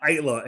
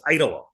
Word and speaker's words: Aittala: Technically, it's Aittala, or one or two syllables, but either one is good. But if you look at it, probably Aittala makes more sense.